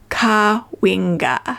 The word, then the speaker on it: Cahuenga: The sole relic of this valiant people is its name which has descended to the town of Kena pronounced Ka Winga with the accent on the wing.